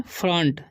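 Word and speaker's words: front: इन फ्रंट, इसे पढ़ेंगे फ्रंट, ठीक है। ओ का उच्चारण यहाँ पर अ हो रहा है, ठीक है।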